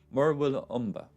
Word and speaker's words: Murwillumbah: It's actually not that hard to pronounce once you know how to. Murwillumbah.